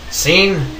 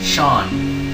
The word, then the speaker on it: Sean: with my cousin so scene life flame is here hello yeah see there he is one moment though it's a lot of people make this mistake it's not scene it's pronounced Sean S A an is